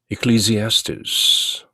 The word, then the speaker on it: Ecclesiastes: 에클레시아 이렇게 쓰기도 하는 말이고, 굳이 영어로 제대로 발음하기 위해서는 Ecclesiastes라는 그 액센트가 Ecclesiastes 이렇게 좀 억양이 들어가는 것이죠.